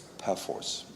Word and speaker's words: Perforce: can guess force now many of my American Brethren pronounce this wrong the emphasis on the force it's perforce can we try this together